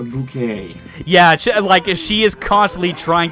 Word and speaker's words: Bucket: The main character in it is a woman called Hyacinth Bucket, who swears that it's pronounced a bouquet.